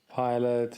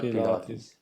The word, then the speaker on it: Pilate: Pilate, he's the guy that flies the plane. I knew you were going to make a Pilate joke. No, this is spelled a bit differently. Pilate. Oh, it's Not Pilates.